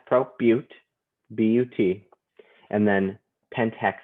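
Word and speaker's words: but-: And 4 is bute, even though it looks like but.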